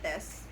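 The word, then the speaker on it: です: not pronouncing it as desu because the correct pronunciation is des. Again, it's another vowel devoicing, but this time it's in the letter U or at the end of a word.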